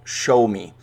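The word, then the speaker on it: Xiaomi: with chinese company called show me and show me spelt x i am oh I and I have that pronunciation on good authority from a mandarin speaker at my office so hopefully I didn't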